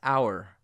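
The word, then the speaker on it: hour: very common for instance our which is pronounced just like this word our or air or honesty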